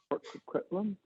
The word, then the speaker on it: Port Coquitlam: Port Coquitlam? Good, I pronounced that properly.